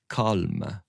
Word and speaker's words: calme: But when I look at the opening passage, when we as English speakers and readers see the word calm, it feels like a single syllable word. But when you see it set, calm, right? But when you see it set in this context, you realize it's calme. And there's that little release on calme.